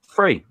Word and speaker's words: three: Cockney, which I'm not, they drop their T's and their H's. So the number 3, which is THREE, is pronounced free. FREE.